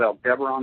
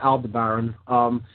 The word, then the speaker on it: Aldebaran: Yeah, Aldebaran in some mystical traditions is, there's different pronunciations of that. I just call it Aldebaran.